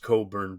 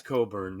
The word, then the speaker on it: Cockburn: It's pronounced Coburn, but yes, but it's spelled Cockburn. Okay, like the burn on your Um I was just confused yesterday. Yeah, it's Yeah, it's Coburn.